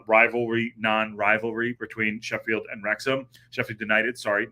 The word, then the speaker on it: Wrexham: United in rexam two it's rexam I'm saying it right now it's reom I I